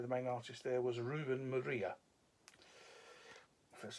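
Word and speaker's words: Ruben Moreira: And the main artist for all three of in the issues there, the main artist there was Ruben Maria. that's how you pronounce the man's name.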